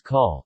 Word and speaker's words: cawl: Dishes such as cawl, Welsh rarebit, laverbread, Welsh cakes, bara brith, literally,